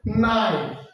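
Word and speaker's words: knife: যেমন এখানে আছে নাইফ, এই যে এখানে নাইফ আছে, এখানে কে এবং এন এ মিলে হবে এন এর উচ্চারণ। কে এবং এন মিলে শুধুমাত্র এন এর উচ্চারণ হবে। যখন ওয়ার্ডের শুরুতে কে এন থাকবে তখন শুধুমাত্র এন এর উচ্চারণ হবে নাইফ।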